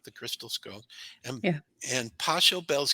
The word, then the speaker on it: Pachelbel: Paschal Bell's Canon in D, or in German it's Pachelbel, um, is his favorite song.